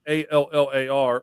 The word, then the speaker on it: Allar: Penn State running backs Katron Allen, and Nick Singleton, plus quarterback Drew Allar, I believe Allar is how you pronounce it, Allar, are all returning next season.